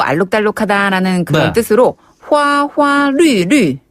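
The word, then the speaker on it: 流: 하다라는 그런 뜻으로 화화 류류 아 그거 참 말이 재밌네요 화화 류류네 이때 류 발음은 너무 짧게 하지 마시고요 조금 더 길게 류루 류류 화화 루루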